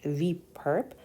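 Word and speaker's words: V⊥: space the perp so V perpendicular but it's pronounced V perp consisting of all vectors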